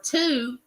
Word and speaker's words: two: spelled t wo it has a w in it but it doesn't sound like a w the number two sounds like doesn't have the W sound the number one has